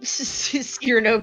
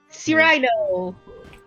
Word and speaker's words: Cyrano: The Cyrano pronounced like Paisano? Cyrano!